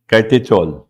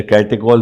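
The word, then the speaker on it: catechol: अब देखो अगर इसमें OH दोनों लगा दिया, OH तो इसका नाम होता है कॉमन नेम कैटेचॉल, या कैटेकॉल भी इंडिया में बोलते हैं, इसको प्रोनाउंस करते हैं।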